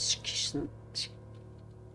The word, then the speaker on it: schism: the will of azdaha so that's how you pronounce that word schism so so there are two asteroids no it